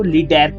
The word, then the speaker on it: lidérc: Hungarian उच्चारण कहें तो उसको लिडर्क कहा जाता है।